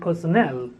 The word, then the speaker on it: personnel: word personnel personal and personnel they are written differently spoken differently the word personal is stressed on the first syllable and personnel is stressed on the third syllable personnel personal this is